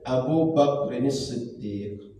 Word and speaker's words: Abu Bakrin Siddiq: Jadi Bakri dengan Bakrin itu dalam bahasa Arab itu beda maknanya. Maka kita tak boleh menghilangkan harokat yang huruf dan harokat yang ada. Maka cara bacanya Abu Bakrin Siddiq.